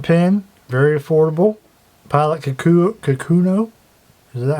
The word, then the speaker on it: Kakuno: Kakuno.